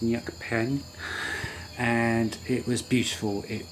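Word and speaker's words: Neak Pean: mention, and that was, I want to say Neak Peen, but it's apparently pronounced Nyuk Pen, and it was beautiful.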